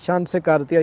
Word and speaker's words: Chancenkarte: इसको opportunity card कहेंगे और शान से कार्तिया ये उसका जर्मन प्रोनाउंस है और इस कार्ड को